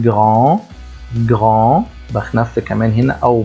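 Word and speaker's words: grand: خاصه بها او شذمه لما نشوف كلمه جرون جون ما بقولش جراند نو بقول جون جون بخنف كمان هنا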